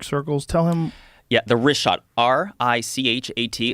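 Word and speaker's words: Richat: Yeah, the wrist shot, R-I-C-H-A-T. It's worth mentioning that. Got it already here. Yeah, in the first couple, I just want to say it's wrist shot. I used to call it Rickot.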